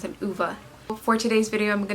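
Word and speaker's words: Ove: I finally learned how to pronounce it, Uva.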